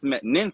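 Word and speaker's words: Nth metal: uh has the his um nth nyth metal it's spelled with a nine it's weird but it's called nyth metal and it's like the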